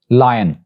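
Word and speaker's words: lion: जो फर्स्ट वाला है जिसका मतलब शेर है, it's pronounced as लायन, लायन यानी ये की आवाज भी आएगी लायन।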